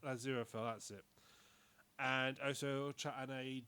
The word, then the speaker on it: Aziraphale: And it follows a angel, because I can never pronounce his name, Aziraphale. Aziraphale, that's it.